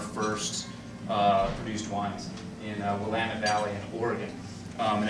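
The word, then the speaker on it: Willamette: uh produced Wines in wamit Valley in Oregon um and if it doesn't rhyme with damit you didn't say wamit right just so we can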